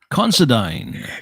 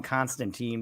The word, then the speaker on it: Considine: Considine. Considine. I kept wanting to call him Constantine, but I was like, it's not pronounced that, but I don't know how to say it.